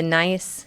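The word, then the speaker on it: gneiss: extreme the beautiful the nice yes again it's nice that is how it is pronounced these are all wonderful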